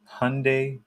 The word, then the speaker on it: Hyundai: acquired two 300 watt Hyundai Hyundai um I saw commercial it was like rhymes with Sunday um two 300 watt Hyundai panels and they're all